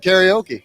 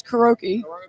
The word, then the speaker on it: karaoke: Karaoke brings out some good singers and some not so good singers, but that's what makes it karaoke.